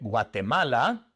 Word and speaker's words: Guatemala: Así que en lugar de Guatemala tenemos Guatemala. Guatemala. La guinea ecuatorial en inglés se pronuncia e equatorial guine, equatorial guine, tenemos que poner el adjetivo primero como se hace en inglés, ¿verdad?